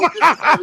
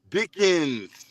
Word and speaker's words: Dickens: You gotta pronunciate that E-N. You said Dick Insider.